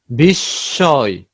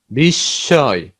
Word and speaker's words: বিস্ময়: যেমন যক্ষা, যক্ষা, মহাত্মা, মহাত্মা মহান আত্মা, রশ্মি, রশ্মি, বিস্ময়, বিস্ময়।